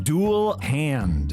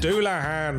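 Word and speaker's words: Dullahan: Dual hand. Doulahan. It's a headless horseman from Irish folklore, you gigantic tit.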